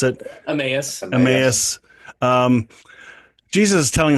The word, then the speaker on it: Emmaus: In some of the stories that we've talked about, the road to Amos, or how do you guys pronounce it? Emmaus.